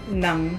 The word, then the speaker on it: ng: So how do you pronounce it? Nang.